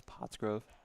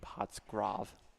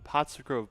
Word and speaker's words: Pottsgrove: Is it just me or like a little while ago did the announcer mispronounce potsgrove? I thought he just said potsgrav.